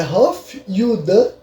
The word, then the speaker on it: Hofjude: Se tu procurar pro judeu da corte no Google, vai aparecer a palavra que, se eu não me engano, a pronúncia é Hof Yud.